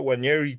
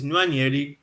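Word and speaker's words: Nwaneri: Stop saying his name like that as well. It's Nwanyeri. Don't say it like. The guy is Igbo.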